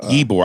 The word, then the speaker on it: Ybor: said that was tampa ebor i think it's because it's the way it's spelt it's spelled ybor okay ibor city uh and then